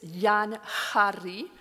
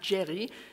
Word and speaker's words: Jean Géry: defendable through philology because the Spanish J is pronounced as H. So this is Jan Harry, not Jerry.